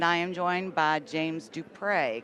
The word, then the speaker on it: Dupre: And I am joined by James Dupre, correct? That's correct. I always want to say Dupree.